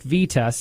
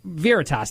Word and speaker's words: Veritas: I'm sure that you've all heard of Project Vetus. I think that I'm saying it right. Project Vetus is Veritas. You know what? Veritas. Thank you, Phil.